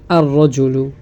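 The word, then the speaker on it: الرجل: হয় তাহলে আমরা আলিফ এই আল যুক্ত শব্দের লামটি উচ্চারণ হবে না দেখুন তিফলুন এখানে যদি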